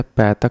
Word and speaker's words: पैतृक: उच्चारण में तो पैतृक बोलते ही हैं। बट वहां पे त लिखेंगे और नीचे र की मात्रा लगाएंगे पैतृक में।